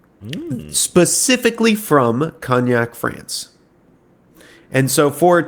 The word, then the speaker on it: cognac: Kgnac is I've said it correctly. If you listen to Google's pronouncing it, it is Kgnac, not cone.